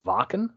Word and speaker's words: Wacken: They played, I know it's spelled Wacken, but I think it's pronounced Wacken. Yeah. Is that the correct something like that? Yeah, I think so. I mean, it's a German festival, so right.